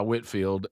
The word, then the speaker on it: Whitefield: of in the movie his name is clearly spelled Whitefield but he went by Whitfield and that's how you pronounce it.